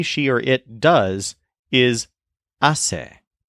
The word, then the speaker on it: hace: or it does, is hace. It's like the infinitive hacer, but with the R removed from the end and with the stress on the first syllable instead of the second syllable.